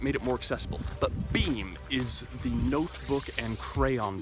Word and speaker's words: Beme: Beme is spelled B-E-M-E, and maybe this is obvious to everybody, except it took me a long time to figure out that that also spells be-me.